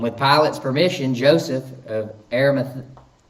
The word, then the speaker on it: Arimathea: his spirit and with pilate's permission Joseph of arameth pronounce that for me Joey so I don't butcher it Arimathea Arimathea I was about to say that but